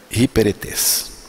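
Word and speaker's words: ὑπηρέτης: A palavra servo em primeiros Coríntios 4:1 vem da palavra grega Ruperetes, que em português tem uma pronúncia, a pronúncia mais aproximada aí em português seria hiperetes.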